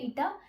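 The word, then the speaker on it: η: ईटा ये इसकी प्रोनाउंसिएशन है ईटा. इसको हम लोग ईटा से रिप्रेजेंट करते हैं एंड ये उसका सिंबल है. It's like H, यू कैन से एच.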